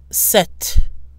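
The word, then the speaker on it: sept: like s cease cease the tea at the end of the number seven is pronounced notice that the P however is silent set set the tee at the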